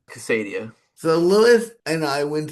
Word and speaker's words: Casadia: Casadio.